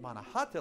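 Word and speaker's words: Manahatta: right here in manahata I think you guys pronounced it wrong but manahata like the Lenape people called it they told this very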